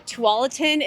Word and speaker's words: Tualatin: is where the name comes from so uh Tualatin is proper pronunciation if you're new to the area or